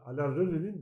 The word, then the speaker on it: Alain Resnais: Evet yani daha çok hafıza üzerine düşündüren bir film ama tabii şey de yani Alain Resnais'in de hani böyle okunuyormuş hani ben Fransızca öyle okunuyormuş.